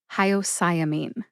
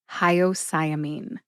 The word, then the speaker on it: hyoscyamine: as I say that emphasize sigh the most see if you can hear that emphasis when I say it again hyamine hyamine where did I get